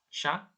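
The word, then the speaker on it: chat: Tapi ini cara bacanya sha dan xian. Sha itu kucing, xian itu anjing. Sha ya. Jadi C dan H, C dan H itu cara bacanya sh, sha sama xian.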